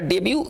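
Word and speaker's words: debut: मतलब क्या होता है इसका डेब्यू कहेंगे ना टी इसमें साइलेंट रहेगा टी का उच्चारण नहीं करेंगे इसका जो पढ़ेंगे डेब्यू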